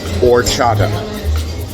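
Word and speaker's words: horchata: ask for a beverage called orchata it's spelled with an H but it's a silent h it is usually made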